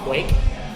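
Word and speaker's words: Kveik: and that's fine but the way I've read it it's pronounced Quake Quake people call it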